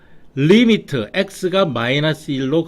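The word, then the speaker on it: lim: 리미트.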